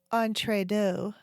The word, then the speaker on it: entredeux: Oh, and I should explain exactly what entredot is. Entredot is a French word and it means between two. It's spelled Entredeux.